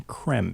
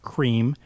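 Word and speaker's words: crème: saw Rios and yes i'm pronouncing creme because it's not cream even though you know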